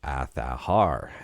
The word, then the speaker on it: Azahar: Well, this is right from Azahar's Twitter account, and they say it's pronounced Azahar. And let me know what you think about that one. That's why I call it Azahar.